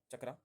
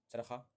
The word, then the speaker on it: चरखा: चकरा। चरखा। चरखा बोलते हैं इसको। चलिए चरखा प्रोनाउंस करते हैं। सही आंसर है चरखा।